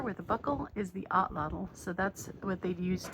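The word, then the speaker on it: atlatl: Okay, so I was just reading, the correct pronunciation is Otlotl. Okay, so the thing that looks like a belt up there with a buckle is the Otlotl.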